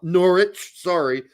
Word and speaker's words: Norwich: good luck Norwich finding Norwich sorry at In 1832 they stopped pronouncing the r in Norwich supposed to not pronounce it anymore I think we talked